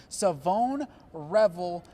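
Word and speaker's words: Shavon Revel: It's not pronounced how it's spelled, ladies and gentlemen. It's Savone Revel, defensive back out of East Carolina.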